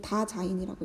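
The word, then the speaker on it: Dasein: 자인이 다자인이라고 읽어요.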